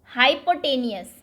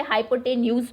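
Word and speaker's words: hypotenuse: अब इसको कई बार बच्चे हाइपोटेन्यूज भी प्रोनाउंस करते हैं क्योंकि वो लिखने में ऐसा आता है। आपकी मर्जी, आप प्रोनाउंसिएशन कुछ भी करें, बस लिखना सही है। तो hypo, HYPO, hypo, TENUS, हाइपोटेन्यूज लिखा जाता है लेकिन हाइपोटेनियस बोलते हैं।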